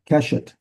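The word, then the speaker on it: קשת: Keshet is a bow. And there are times, he's got weapon to the side there, and there are times it seems to be more generic as far as a weapon, but most of the time it's a bow. And it's also seglet, got the accent on the first letter.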